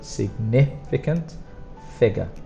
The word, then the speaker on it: significant figure: need to remember this so the pronunciation significant strongest sound is on the second and then figure strongest sound is on the first so significant figure significant figure leading zero